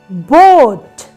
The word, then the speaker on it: boat: second one is a so the first vvel sound is going to be long sound like o and the second vvel sound is silent sh means a is silent so listen very carefully